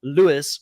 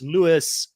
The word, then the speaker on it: Louis: But apparently he pronounces it as Lewis with an S on it. And one of the fans has said to me last week, it's Lewis, and you have to pronounce it that way.